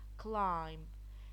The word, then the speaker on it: climb: Climb, the B is silent.